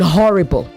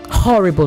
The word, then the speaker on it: horrible: And try to inunciate the H in horrible. Horrible, not horrible. Okay.